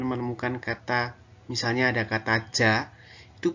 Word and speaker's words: ja: Jerman di kelas 10 jadi Agar kalian bisa lebih paham lagi karena kita